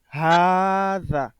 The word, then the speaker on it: هذا: هذا en réalité, il est écrit هذا ولكن il se prononce هذا. طيب. La première lettre du pronom qui est ha est élongée. On va le lire ha et puis za.